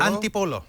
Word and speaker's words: Antipolo: And Chris is on the line from, and you better pronounce this for me, is it Antipolo? Antipolo. Antipolo City in the Philippines.